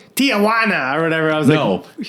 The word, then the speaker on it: Tijuana: I always thought it was Tijuana. Right. 4 syllables.